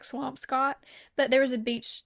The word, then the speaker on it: Swampscott: But usually like we went to Boston last summer and we stayed in a place called Swampscott, I think is how it's pronounced. Looks like Swampscott.